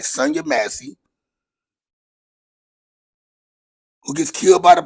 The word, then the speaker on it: Massey: Last week, man, you had the lady, Sonia Macy or Massey, I should say it right, Sonia Massey, who gets killed by the police for saying, "I rebuke you in the name of Jesus."